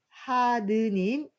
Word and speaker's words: 하느님: 하늘님에서 리을 탈락이 돼서 하늘에 있는 뭔가 높은 사람이 있다 신이 있다라고 믿었습니다 하느님이 글자에서 엄청 많이 틀립니다 그리고 보우하사인데 갑자기 보호하사